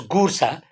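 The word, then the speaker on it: Goursat: his name was perhaps gura g o u r s a t is silent so it is ga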